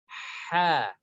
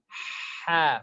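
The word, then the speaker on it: ح: Ha, Ha, from the throat. The name of this shape is Ha.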